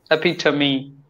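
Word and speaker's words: epitome: word okay so it's e p i t o m e yeah EP to me beautiful perfect let's go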